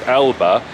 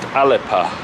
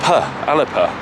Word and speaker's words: Alba: And also interestingly, the word that actually I pronounce as Alba is actually Gaelic is pronounced Alepa. With a p, Alepa, which I didn't know.